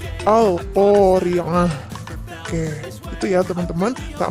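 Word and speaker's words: القارعة: Nah, tu-nya dibaca ha, jadi dibacanya bukan Al-Qari'atu lagi, Al-Qari'ah.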